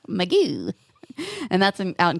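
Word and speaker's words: Mugu: which was out in point meoo point meoo you got to say it like that too even when you're writing it meoo and that's in out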